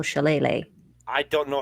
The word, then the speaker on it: shillelagh: wacky stick being used because I did not know how to spell shillelagh. I don't know how to spell it. I just spell it phonetically. I like wacky stick. Wacky stick. Shillalay.